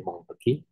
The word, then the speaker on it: Montesquieu: Mungkin kita kenal dengan Montesquieu atau Montesquieu ya, katanya dibacanya Montesquieu, itu adalah orang Prancis dengan konsep legislatif, eksekutif, yudikatifnya gitu.